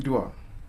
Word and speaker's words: Idua: Yeah, it's pronounced like an E, Idua. Idua. Okay, Yes. awesome. Would you like to introduce yourself? Start us Yes, off. my name is Idua.